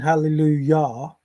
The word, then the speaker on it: Hallelujah: J because the J the Yah in German Yah for yes is the same as the Hallelujah that's written with a J.